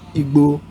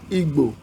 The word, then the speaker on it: Igbo: We have Yoruba tribe, we have Hausa tribe, and we have Igbo tribe. The word Igbo, the B sound, is not present in English, so I'm very sure you Westerners won't know how to pronounce that word.